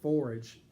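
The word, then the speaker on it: Phorage: they sound the same you would pronounce forage in forage kitchen pretty much how you would expect to say the word forage p-h-o-r-a-g-e and so that's a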